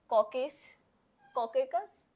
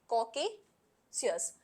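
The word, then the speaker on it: Caucasus: फिर है कॉकेकस, it's sorry for pronunciation, is कॉकेशियस, इट्स an mountain range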